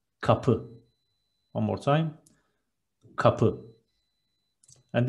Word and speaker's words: kapı: Door is kapı in Turkish. Two short syllables and stress is on the second. Kapı.